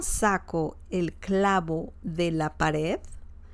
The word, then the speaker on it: pared: Pared means wall, okay? Pared. Pared. Don't forget the pronunciation, or to pronounce the letter the as in, the at the end. The as in delta.